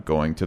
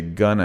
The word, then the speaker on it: going to: in all those examples if you say Gunna it's completely wrong and sounds weird you can't say I'm gun of the bank I'm gun to Mexico tomorrow it makes no sense sounds incredibly weird so again just like in the last lesson if going to is followed by a verb then it does sound like gonna so I'm going to